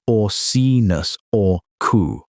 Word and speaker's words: Orcinus orca: Orcinus orca, pronounced or-see-nus or-coo.